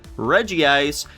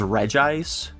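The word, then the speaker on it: Regice: Reggie ice. Do you guys know the official pronunciation is re ice?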